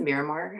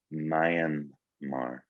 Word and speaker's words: Myanmar: And you recently, and I can never, is it Miramar? How do you say Myanmar? Myanmar.